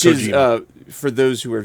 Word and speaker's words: Kojima: And this is from the game Death Stranding by, I'm going to say Hideo Kojimita? Yes. Which Kojima.